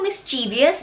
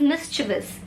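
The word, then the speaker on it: mischievous: क्या आपने इसको मिस्चीवियस बोला? अगर हाँ तो ये टोटली रॉन्ग है। This will be pronounced as मिस्चिवस।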